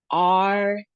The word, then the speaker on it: archaic: has three syllables and we see this time it has a long A sound in it. And then we see the umlaut, which is ah. Archaic. Archaic. And the emphasis is on the second syllable.